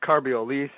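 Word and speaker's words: Carbiolice: It's Carbiolise. Yes. I believe it's pronounced correct.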